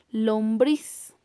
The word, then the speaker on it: lombriz: Veamos otro ejemplo, es la palabra lombriz. Lombriz. Su mayor intensidad de voz está en la última sílaba, por lo tanto también pertenece a las palabras agudas.